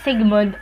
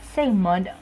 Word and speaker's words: Sigmund: called segment Freud yes it is not Sigmund fraud but segment Freud okay you can search